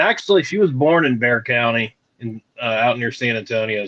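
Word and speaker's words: Bexar County: San Antonio it's in it's pronounced Bear County yeah Bear County but you know the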